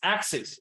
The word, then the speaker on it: axes: um the singular is Axis right but when there is more than one axis it becomes two rows so we uh change the I into e that's a plural form and pronounce axi okay that's a plural